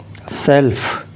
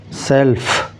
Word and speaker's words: self: notice the pronunciation also singular prefix self you can hear the F sound at the end self self and for the plural